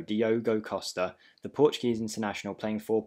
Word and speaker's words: Diogo Costa: an absolute beast now every time i say his name i say diego costa but it is diogo diogo costa the portuguese international playing